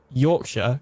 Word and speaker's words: Yorkshire: not, because you don't actually say shire. You say sure.